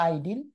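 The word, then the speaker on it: Idylls: আর English ইডিল, উচ্চারণটা ইডিল অথবা আইডিল, ইডিল বা আইডিল, এটা তিনি লিখেছেন ইংল্যান্ডের গ্রাম্য অবস্থাকে ব্যাখ্যা করে।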